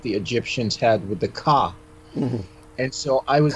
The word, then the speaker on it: Ka: Egyptians had with the Ka. Mm-hmm. And so I was able to... You said it right, but I'm just re-emphasizing so people don't think you said cock. Ka. Yeah. That's spelled K-A.